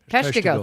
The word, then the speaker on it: Peshtigo: And thank you for the pronunciation on Peshtigo. Is that how you? Peshtigo.